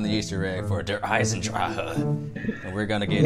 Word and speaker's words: Eisendrache: It's the D-E and we Where's Draha? No, the H E gives like a ha sound. It's Der Eisendrache.